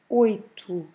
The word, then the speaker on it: oito: You see that the word ends with an O, but every time in Portuguese, every time we have a O at the end of a word, the right pronunciation is U.